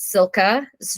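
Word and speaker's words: Cilka: had to look up several times how to pronounce her name but it's Sila's journey and she is um mentioned in the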